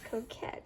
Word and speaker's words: coquette: And how do you pronounce this? Coquette? What is coquette?